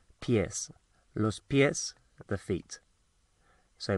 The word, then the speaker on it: pies: Pies spelled pies, but obviously not pronounced like that. Pies, los pies, the feet.